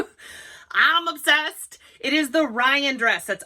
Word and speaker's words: Ryane: It is the Ryan dress. That's R-Y-A-N-E, and it is pronounced Ryan, just like if it were R-Y-A-N.